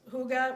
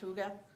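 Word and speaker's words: hygge: invented and celebrate this concept that's known as Huga which is you've probably seen it spelled h y g g but it's pronounced Huga which is a fun word Huga it's a Danish word that describes the Scandinavian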